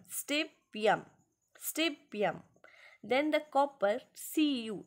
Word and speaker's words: stibium: Latin name means, pronounce with me, stibium, stibium, stibium.